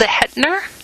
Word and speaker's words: Zehetner: for our investigation is your last name stills ahead nur is I pronounced yes right yes ve 888 ER and